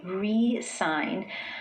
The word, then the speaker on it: re-sign: Now, when the stress is placed on the first syllable and I say re-sign, I'm putting my focus on the prefix re, which means again in English.